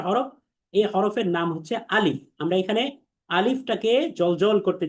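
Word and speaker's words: ألف: আলিফ আলিফ আলিফ আলিফ, কোনো টান হবে না, বলতে হবে আলিফ আলিফ আলিফ আলিফ আলিফ। তার মানে 1 নাম্বার হচ্ছে কোনো টান নেই। 2 নাম্বার বিষয় হচ্ছে এর উচ্চারণ পাতলা, অর্থাৎ মুখ স্বাভাবিক রেখে বলতে হবে, অর্থাৎ যাকে আমরা বলি বারিক।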